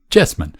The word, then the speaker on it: Cheesman: de vivo bolt r yes men yes man se escribe cheesman hombre que es un